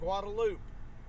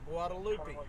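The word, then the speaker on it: Guadalupe: is is you recently arrived here if you're pronouncing it that other way manack just like guadaloop it's guadaloop not guadalupi if you've been around Austin for any length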